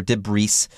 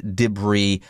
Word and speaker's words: debris: be a bit tricky it's not deborah's or debris s' it is debris mind the French translation